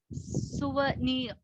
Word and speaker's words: souvenir: I would request you to look into the pronunciation of souvenir. It is souvenir.